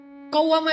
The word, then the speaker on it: qawwamah: Kalau sholat malamnya rajin, gak pernah tinggal, dikasih tasydid, bacanya qawwamah.